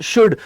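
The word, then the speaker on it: should: ये जो एल है तो ध्यान रखना, एल नहीं पढ़ेंगे, इस एल की प्रोनाउंसिएशन नहीं आएगी, शुल्ड नहीं पढ़ेंगे भाई साहब, इसे शुल्ड मत पढ़ना, अपराध हो जाएगा। This is नॉट शुल्ड, this is शुड।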